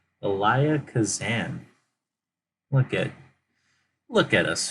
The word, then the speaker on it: Elia Kazan: the Crowd, directed by Elias. Cause Elia? Are you serious? Have I been saying his name wrong this whole time? I thought there's an S in there. Swear to God, Elia Kazan.